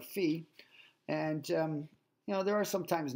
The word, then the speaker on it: phi: We're going to pronounce this phi, the Greek letter phi.